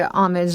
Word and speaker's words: homage: But there are many different ways people pronounce this Right, word. and I usually say homage, like they said it in here, homage.